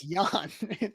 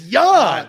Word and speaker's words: Jan: It's Jan. We've had some Jan Stenerud questions before. It's Jan. The J Jan. is silent. It's a soft J.